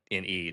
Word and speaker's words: Milne: mispronounced Zach's name because it's actually Milne, not Yes. mine, but Milne or Milne.